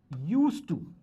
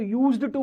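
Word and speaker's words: used to: कुछ लोग इसको यूज्ड टू बोलते हैं पर वो यूज टू नहीं है, यूज टू ही है। डी का प्रोनाउंसिएशन नहीं आता है।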